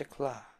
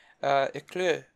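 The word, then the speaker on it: éclat: It's E-C-L-A-T. Eclat? That's an A with an umlaut? I guess that's It's like, it's an A sound with like, with like O lips, if I remember right.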